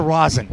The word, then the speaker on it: rosin: What role will the resin, by the way, resin or rosin? Rosin. Rosin as opposed to resin. No, it's a rosin bag. It's the same pronunciation. Well, for the bag it is, yeah, and then for ours it is rosin.